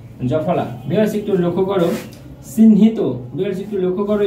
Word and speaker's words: চিহ্নিত: Viewers, একটু লক্ষ্য করো, চিহ্নিত। ভিউয়ার্স, একটু লক্ষ্য করো, এখানে চিহ্নিত, চিন থেমে গেছি তাই হসন্ত, হিত হয়কার তয় ওকার, হিত, চিহ্নিত।